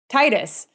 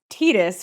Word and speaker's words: Tidus: All of us in the United States would say Titus. But then later they came out and said that it was Titus, which is awkward sounding in English, and we'd all been saying it wrong.